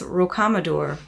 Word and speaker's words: Rocamadour: Dude, I'm not good at this stuff, but I think it's Rocamadour.